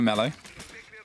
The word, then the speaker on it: Mellow: Pronounced like Nello, but for Mellow. So an M instead of an N, yeah?